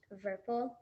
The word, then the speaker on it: Werpel: Yeah, that last name Werpel sounds kind of like a German name. That's interesting. Yeah, it is. It's Cool. like I think it's pronounced Verpel.